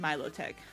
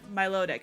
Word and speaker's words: Milotic: I've always said Milotic, but Milotic I think is the actual pronunciation.